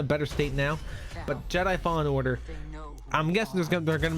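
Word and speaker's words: Fallen Order: story fantastic game overall star wars fall falling jedi order said it wrong there star wars jedi fall in order there's what i'm saying where i always said it wrong uh fantastic game from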